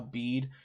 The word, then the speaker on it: Bede: Like I said, I do think a bead. I may be pronouncing that differently. Some people say Bede, I think.